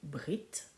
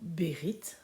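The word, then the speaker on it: בְּרִית: Yod et le Tave ce mot se dit Brit ou Bérit ça dépend comment on le prononce il signifie alliance euh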